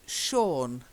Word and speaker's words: Sean: It's Sean. Sean. Yeah. Sean. Yeah. Sean. I know, it doesn't look like Sean, but it is.